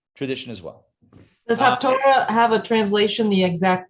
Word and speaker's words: Haftarah: I'm sure it does, but it's not half Torah. It's spelled with a different spelling altogether than Torah. It's with a tes and not a tuf. 2 different letters in Hebrew make that T sound. It's the other letter.